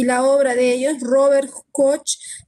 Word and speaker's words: Robert: no el caso de Robert coach como padre de la bacteriología nos cuenta un poco de su experiencia y les voy a narrar una parte chiquitita nada más Robert coach se pronuncia Rober él es este médico